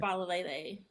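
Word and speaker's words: Faalele: Falele.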